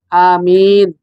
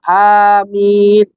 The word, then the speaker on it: amin: ustaznya diberikan kesehatan beginibegini amin itu jadi Anya panjang Amin kalau Balkan kita malu dan ucapkan dalam hati enggak cukup kita ucapkan dalam hati amin jadi diimbangin ini yang benar sering diucapkan dalam kata-kata Amin ini salah kaprah salah lumprah salah tindakan